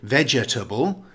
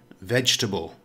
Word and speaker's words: vegetable: it's pronounced vegetable note although vegetable has four syllables the second syllable is silent we don't say vegetable we say vegetable here's an example in